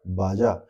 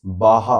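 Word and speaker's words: Baja: This one this is बाहा। बाहा बोलते हैं। दे प्रोनाउंस वहां के लोग इसे बाहा प्रोनाउंस करते हैं बट लिखते हैं बाजा।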